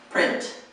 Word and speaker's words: print: um in print yeah you have to have the T sound yes but you don't necessarily want it to be two syllables so don't say print that's like two syllables Prince no just make it once syllable print print yeah to Prince money